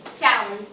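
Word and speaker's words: chào: Ciao. It's like xiao in Italian.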